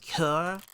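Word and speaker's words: cœur: It's pronounced cure. I know how it's pronounced.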